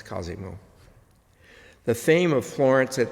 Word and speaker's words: Cosimo: who did it incidentally the correct pronunciation is Cosimo not Cosmo but it's Cosimo the fame of Florence